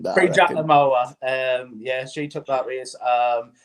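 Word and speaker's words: Prix Jacques le Marois: She took the pre-Jack Lamawa. Did I say that right? You butchered that. You butchered that. Pre-Jack Lamawa.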